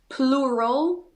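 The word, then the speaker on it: pleural: So she had plural cancer but not it's spelled P L E U R A L.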